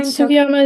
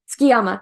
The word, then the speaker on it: Tsukiyama: Number Wait, 9, Sugiyama, is that the guy with the glasses? Tsukiyama. Tsukiyama. I'm pronouncing it different than they did in the dub.